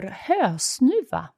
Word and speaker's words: hösnuva: It sounds like the word for snow. Okay. That is snö. Uh-huh. The word for snow. Here we talk about hö, and the second word is snuva, which we talked a